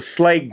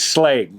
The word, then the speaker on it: Schlage: latch that we like to use is the slag brand and that's how you pronounce it if you go up on their